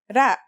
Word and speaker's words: ر: Its closest English counterpart is the letter R, but it's a different sound that must be learned. Ra.